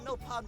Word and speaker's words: Nopon: On Nopon brew day, Prone first set sticky feet on Mira. Also, yeah, they do pronounce it Nopon in Xenoblade X.